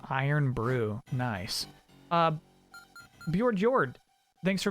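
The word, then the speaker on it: Irn-Bru: It's pronounced Iron Brew.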